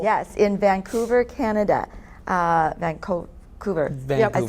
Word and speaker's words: Vancouver: Vancouver, I said it right?